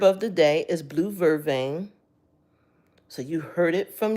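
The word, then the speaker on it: vervain: So, but actually the herb of the day is blue vervane.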